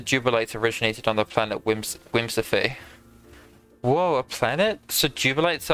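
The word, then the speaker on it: Whimsipae: Whimsify. That's how it's pronounced, but it's spelled W-H-I-M-S-I-P-A-E. Whimsify.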